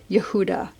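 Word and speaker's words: יהודה: affiliated with this letter the tribe of Judah is spelled yud he VAV dalet he so it's got the Divine name within it Yehuda it's like the Divine name with a dollet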